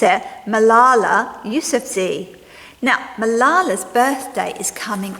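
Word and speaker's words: Malala Yousafzai: here and this is her name and you pronounce it Malala YF Z Now malala's birthday is coming up and she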